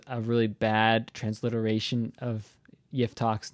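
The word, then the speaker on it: יפתח: My humble opinion, my amateur opinion, Jephthah is a really bad transliteration of Yiftach's name, of this character's name, because it's not actually how you're supposed to pronounce his name in Hebrew.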